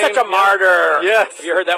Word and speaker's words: Marter: Yeah, my dad always said they prayed for us in church for all the martyrs and the saints. So we're spelled with a T-E-R, not a T-Y-R.